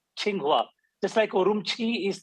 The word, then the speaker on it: Qinghua: uh by the way Qi is pronounced as chi ching Hua the psycho room Chi